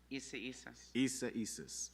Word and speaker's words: Isaias: What is the correct pronunciation? Isaias? Isas.